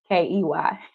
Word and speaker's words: Key: Remember when I called you Kai and you was like, it's pronounced Key. I needed that check because now I remember it's Key, not Kai.